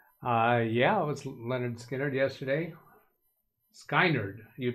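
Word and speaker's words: Lynyrd Skynyrd: me any good let's let's go see why Leonard skard uh yeah it was Leonard skinnard yesterday skiner you're pronouncing it different skinnard and uh if I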